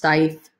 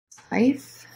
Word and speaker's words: Steiff: It's, I believe it's pronounced Steiff.